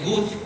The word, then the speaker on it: Łódź: trasladar a Polonia, es la ciudad de Łódź, que es como se pronuncia la palabra que están ustedes viendo escrita en esta pantalla.